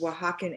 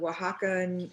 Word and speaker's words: Oaxacan: for you to see remember oaxacan is spelt kind of weird it's o a x a c a n so it doesn't it's not spelt how it sounds so um you know